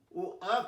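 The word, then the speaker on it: wok: হবে, ভুল করেছি এখানে, ওয়াক না ও আক হবে, ও আক, লেখা ভুল, টাইপ ভুল হয়েছে।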